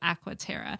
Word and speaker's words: Aquaterra: well there really is no u after the first a and it really is aqua tara and it's all awkward too i've been saying it wrong and it's i